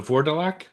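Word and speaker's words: Vourdalak: How do you pronounce that title you said again? The Vorelac. Vardelac.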